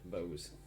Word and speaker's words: Bowes: Yeah, Bowes.